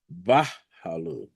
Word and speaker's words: Bahalu: Bahalu. So it's BAH phonetically, then Halu, like Hulu. But it's Halu.